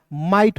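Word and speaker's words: might: म लिखना है और आई जी एस टी जब भी किसी भी वर्ड्स के अंतिम में रहेगा उसका उच्चारण दोस्तों आइट के रूप में करेंगे। देखिए इसमें आइट जोड़ेंगे तो क्या हो जाएगा दोस्तों? माइट हो जाएगा।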